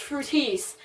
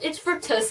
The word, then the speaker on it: Fructis: to correct me because everybody knows it's pronounced Fructis. That's how it's spelled. That's how it's done on the commercials. And she stopped and she said, "Oh, honey, it's fructus."